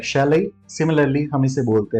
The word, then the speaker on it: chalet: CHALET. How do you pronounce it? Well, I guess like you would have just tried, but still you need to understand the right pronunciation. We call it chalet, chalet.